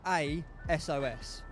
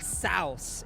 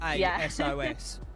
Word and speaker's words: ASOS: Werewolf's ordered something from Boohoo before, and ASOS, it's ASOS, not like how you spell it the correct way. Yeah, not like ASOS. Not like Souse. It's like ASOS.